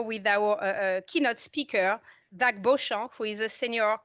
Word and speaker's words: Beauchamp: It was a long trip, and we will begin now with our keynote speaker, Zack Beauchamp, who is a senior, I pronounce it very French way, who is a senior